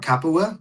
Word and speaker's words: Capua: Hey, so you were talking about Capua? Is that how you say it? Yes. Okay. Capua.